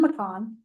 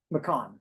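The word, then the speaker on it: McCaughan: So, I do apologize because it looks like it reads differently, but it's uh McCon, correct?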